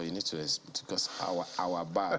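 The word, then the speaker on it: Awabah: need to discuss our our bar doesn't it doesn't look like the way it's spelled a-w-a-b-a-h yes uh it's actually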